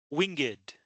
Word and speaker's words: winged: Other words like this, winged, which means has wings.